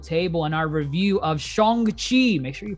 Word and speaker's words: Shang-Chi: of the yonko table and our review of shongxi make sure you pronounce it right and the legend of the